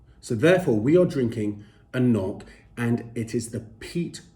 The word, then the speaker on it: anCnoc: c now some of you may think it's pronounced ank nok some may think there's a silent c or an n well let me put you off your misery it is in fact pronounced a knock so therefore we are drinking a knock and